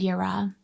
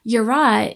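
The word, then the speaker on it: yirah: c h a d and yura y i r eh pashad is that fear of there's a monster under the bed. It's that instinctive responsive survival fear. Yura is the fear of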